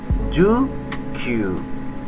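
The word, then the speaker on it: 十九: ju Nana Ju Hachi Ju Q nah kalau ini pakainya ya bukan ku kalau ku tadi digunakan untuk jam sama bulan ya keterangan waktu nah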